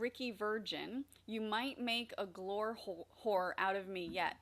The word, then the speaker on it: Glore: Glore hole. The E is silent.